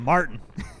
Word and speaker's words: Martin: Gotta say it like an American, man. Martin. Skip the T, skip the I, just go straight to the N.